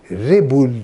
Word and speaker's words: Rebul: 1938'de artık Kemal'i kaldırıyor babam Rebul diyor Türkçe okunur tarzda r b u l olarak ve devam ediyor